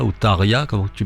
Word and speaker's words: Tarja: Et alors, effectivement, depuis Tarja ou Tarja, comment tu prononces, Julien, là, Tarja, en mode finlandais.